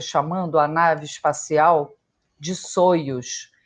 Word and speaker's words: Soyuz: Hoje em dia, eu vejo as pessoas chamando a nave espacial de Soyuz. E eu lembro que, à época, a gente aprendeu a falar Saios, que era assim a pronúncia do nome, corretamente, né?